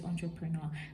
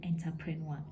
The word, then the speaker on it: entrepreneur: word entrepreneur, of course, which we know is entrepreneur. There are lots of people that are used to saying entrepreneur, and it is just not the way that it is said.